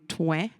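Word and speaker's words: Trouin: is a photo of a town named TW but it's spelled t r o u i n and the drive into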